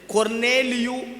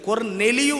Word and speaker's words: கொர்நேலியு: அவனை குறித்து வேதம் சொல்லுகிறது கொர்நேலியு என்று வேதம் சொல்லுகிறது. கொர்நெலியு இல்லை, கொர்நேலியு. அந்த பேரை கரெக்டாக நம்ம ப்ரொனவுன்ஸ் பண்ணணும்.